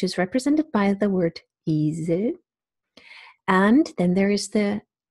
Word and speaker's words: Esel: Then there is a half-closed front vowel, which is represented by the word Esel.